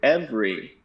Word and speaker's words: every: way to remember that the pronunciation of the word every stays the same when it's in a compound word so everywhere everyone everything um so even though it's spelled e v e r y again we take that vowel in the middle and we just go and we do f re or maybe some people feel the syllables differently and do f three and i kind of